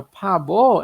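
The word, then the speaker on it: 바보: tem aqui na palavra pabo essa mudança de pronúncia. Então a gente lê primeiro como P, ó, a mesma consoante que está aqui, o P ou B, vai ter o som primeiro de P e depois aqui o nosso som de B.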